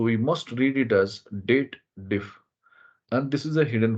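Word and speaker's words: DATEDIF: anything name is called Date diff the formula name is date diff people always does the wrong pronunciation they believe there is a if condition is available and they read it as dated if but technically this formula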